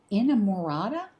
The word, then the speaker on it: Inamorata: It is Inamorata, I think is how it's pronounced, a decadently dark gothic